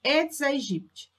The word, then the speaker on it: Aedes aegypti: fêmea do famoso conhecido aedes aegypti muita gente fala que a pronúncia correta edson egypt é em pessoas sadias